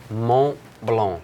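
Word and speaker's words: Montblanc: not influenced here on this one more below Mont Blanc yeah and not blue okay well it's fine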